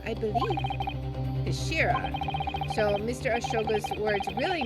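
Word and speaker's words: 頭: of the hilt okay it's written as head in Japanese but it's pronounced as Kashira I believe Kashira so Mr asa's word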